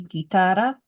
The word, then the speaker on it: guitarra: And then the GU, goo goo, without a dot over it, it's actually silent right here. See, guitarra, GU is making it hard because we have the I or the E.